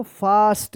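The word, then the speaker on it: fast: जब भी ए के बाद एस रहे या डबल एस रहे तो ए का आ उच्चारण होगा। क्या पढ़ेंगे इसको? फास्ट।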